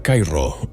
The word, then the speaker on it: Cairo: Cairo, que se pronuncia Cairo y no como la capital de Egipto, está en el extremo